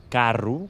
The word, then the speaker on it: carro: Llavors, en aquest cas, tenim paraules com per exemple la paraula carro, que s'escriu amb O, però la pronunciem amb una /u/.